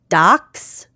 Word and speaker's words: Dachs: So, the first is docs. It's d a c hs. Mhm. But a German would pronounce it doc, and that's German for badger.